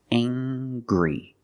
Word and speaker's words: angry: say he's very angry we use the nasal sound plus the hard G angry he's very angry he